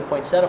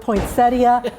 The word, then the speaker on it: poinsettia: I've heard poinsettia, poinsettia. What is up with that? How do you say this word? As all good horticulturalists or all good botanists, there are 5 ways to say every plant name. And absolutely, actually both are perfectly acceptable ways to say it, poinsettia or poinsettia.